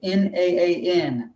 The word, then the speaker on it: naan: ever had or she will make naan bread n-a-a-n naan that's how you pronounce it and we have a version of